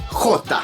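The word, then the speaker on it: Jota: il ya le nom iota en gros c'est la lettre j en espagnol qui se prononce crotta le suffixe a d'ailleurs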